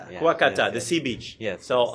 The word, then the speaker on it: Kuakata: I always mispronounce the name. Kuwakata. Kuakata. Kuwakata.